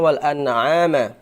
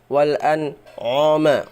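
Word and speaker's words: وَالْأَنْعَامَ: Wal walama ya walama khalaqoha harusnya wal an'ama atau kadang-kadang masih belum sempurna baca ee belajarnya sehingga bacanya ainnya menjadi ain yang ain yang tebal. Wal anoma wal anoma harusnya wal an'ama bukan wal anoma.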